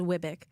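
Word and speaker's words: WWBIC: it's a long uh acronym wise we pronounce it as Wick okay so it's better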